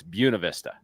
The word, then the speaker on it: Buena Vista: friends that ask me, is it Buena Vista or Buena Vista? And bring them back to this video and remind them that you've got to know it's Buena Vista.